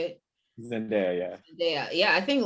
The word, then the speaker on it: Zendaya: winning right now is i always say her name wrong zendaya is that how you say it zendaya yeah yeah yeah i think la roach is